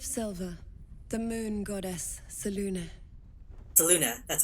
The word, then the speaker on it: Selûne: Selûne, that's how you say it.